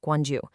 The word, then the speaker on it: Gwangju: What's just wild is that this biodiversity hot spot is thriving right on the edge of Guangju. That's pronounced Guanju, a major city with 1 and a half million people.